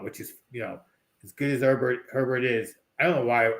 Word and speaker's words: Herbert: what they want, which is, as good as Herbert is. I don't know why I keep wanting to say Haber.